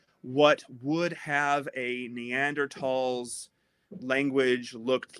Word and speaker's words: Neanderthal: is by the way I know it's spelled neanderthals but like if you ever talked to an archaeologist just say neander tall because if you don't they